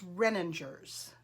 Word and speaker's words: Renninger's: that i am saying it correctly it is renningers okay um anyway as you can tell they